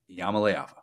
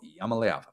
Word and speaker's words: Iamaleava: on the man, the myth, the legend, Nico Iamaleava. We're going to say it over and over until everybody who listens to this show knows how to say his last name, Nico Iamaleava.